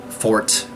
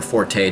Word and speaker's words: forte: third-person action-adventure games are my fort or Forte depending how you say it I love those you